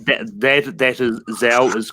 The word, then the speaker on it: Zhao: That is Zhao is correct.